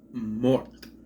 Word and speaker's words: mort: it right it says morte it's not morte Le Mort Mort you don't pronounce the E it's Mort I know that's confusing